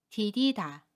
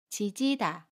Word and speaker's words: 디디다: 않습니다 또 다른 해볼게요 동사 디디다 입니다 뒤 기단은 한 단어에 요 첫소리 자음 비극과 모음 2 가 만나도 디디다 라고 발음 해요 지지다 라고 발음하지 않습니다 그리고 또 다른 경우엔